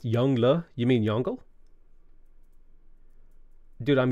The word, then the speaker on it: Yongle: last minute comments potato his name is pronounced yongla you mean yongle dude